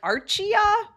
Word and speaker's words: Archeia: I didn't know how to say that. I was like Archia. Archaya. And then it wasn't until I really found out there was a healing modality associated with these cards that blew my mind and I immediately was like, I need to learn it. Um, but anyway, so that is how you say the word archa and the plural is arayi.